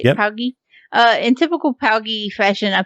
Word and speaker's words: POWGI: POWGI.